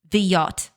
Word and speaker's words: Godot: The yacht, closest to Polish pronunciation.